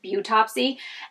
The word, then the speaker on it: Beautopsy: Because it's like autopsy, except it's Beautopsy.